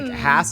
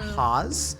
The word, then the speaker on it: Hass: Hass avocados started in Irvine, California, and it is pronounced "Hass," not "Haas."